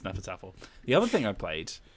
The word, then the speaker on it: Hnefatafl: it was a struggle uh but apparently it's pronounced nefertar the other thing i played um well i